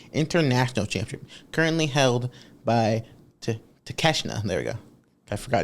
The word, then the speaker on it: Takeshita: Our old pal, take a shit. Is that not how you spell his name? That is how you spell it, but that's not how it is pronounced.